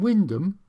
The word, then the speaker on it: Wymondham: And I shall be now looking at the old Great Eastern Railway line from Windham. Yes, that's the correct pronunciation to Wells on Sea on the coast.